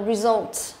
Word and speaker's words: result: Kết quả, động từ hoặc là danh từ đều đọc là result cho âm thứ hai.